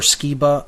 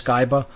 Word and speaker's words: Skiba: in his newer material rob skyba or skiba i'm still not really sure about the pronunciation i think it's skyba he has some great